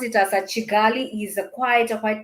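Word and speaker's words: Kigali: city that is the town to them they pronounce it as a chigali is a quite a quite developed even from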